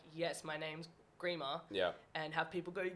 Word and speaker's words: Grima: i went to malta so my last name is grima it's spelled g-r-i-m-a and a lot of aussies will pronounce it grimer um you got to come with a grime track at some point oh i've got something for you just don't worry don't worry don't worry um but yeah it's pronounced grima and just before we